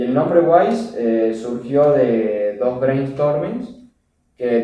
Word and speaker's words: Wais: con él o sea guays es el fonético de sabio en inglés que se escribe wise pero se pronuncia guays y nosotros aprovechando la